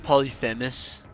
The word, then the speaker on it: Polyphemus: now because we have polyphemus and cricket's head uh it's pronounced polyphemus you heathen i'll take spelunker hats